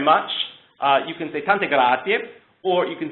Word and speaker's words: grazie: Every vowel is addressed. So there is an I and an E at the end of grazie, so you want to make sure you sort of subtly hit the I and the E, rather than just grazie.